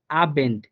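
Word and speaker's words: Abend: Same ভাবে লাস্টের উদাহরণটা দেখেন, আবেন্ট, আবেন্ট, হ্যাঁ, এই যে দেখেন আ বেন্ট, অর্থাৎ বটা কিন্তু বয়ের মতো উচ্চারণ, অর্থাৎ বেটা ব বাংলা বয়ের মতোই উচ্চারণ হইতেছে যে আবেন্ট।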